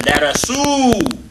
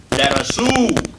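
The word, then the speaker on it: درسوا: I said darasu, darasu. The ooh and the aleph on the end here is not pronounced.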